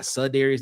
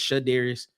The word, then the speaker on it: Shadarius: Then right after him, you have Shadarius Tootle. Spelled his name wrong. That should be SH, not Sudarius. That's Shadarius.